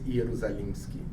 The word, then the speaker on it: Ierusalimschy: And usually I pronounce my name as Ierusalimschy. It's a kind of, so it's almost as he said, but it's E instead of I.